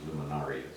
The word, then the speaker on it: luminarias: And I think the correct pronunciation is luminarias.